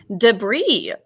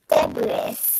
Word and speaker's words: debris: Number 14 is another French one, debris. Do you all remember how we think to spell it? Alina? Debris. You got it, debris. There's a silent phonogram at the end.